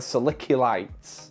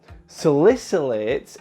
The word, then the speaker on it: salicylates: for the longest time I was calling silica lights so salicylates is a compound that's